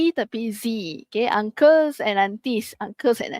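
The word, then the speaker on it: zio: Dia Z ni sebut sebagai bunyi yang buzing tu. Bukan bunyi ts macam S. Bukan bunyi dia adalah zo. Z bukan se. Okey adik-adik ah notice tak ada the difference. Okey dia zo. Z bukan se bukan s.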